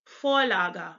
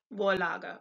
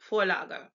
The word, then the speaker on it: Vorlage: V is a little bit different because it's actually pronounced like our F. So the V is like F in Fox. So the word you see on the screen below, it's actually Vorlage, not Vorlage, but Vorlage.